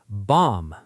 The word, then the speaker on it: bomb: Bomb. Say it. Bomb. Silent B.